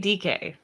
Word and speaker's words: Dike: Chimere Dike.